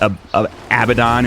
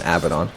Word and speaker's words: Abaddon: And Abaddon. If you say Abaddon, I say Abaddon. Abaddon. That's how it's pronounced. That's how it's spelled anyway. That's how it should be pronounced.